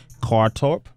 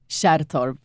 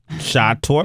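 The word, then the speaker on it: Kärrtorp: I'm going to say Kartorp? Shattorp. Shattorp? Yeah. Okay.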